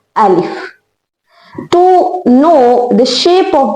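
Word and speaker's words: ا: So its sound is a sound, a sound. From where you are going to pronounce alif? So you have to pronounce alif from deepest part of throat.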